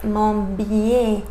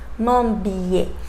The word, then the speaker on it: Montbier: My last name is Montbier. Without an accent, it should sound Montbi, Montbi. But because it has an accent, I have to pronounce it Montbier.